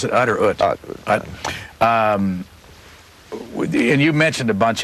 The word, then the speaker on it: Ut: And by the way, before you explain who Nick, is that the way you pronounce it, Utt or Ut? Utt.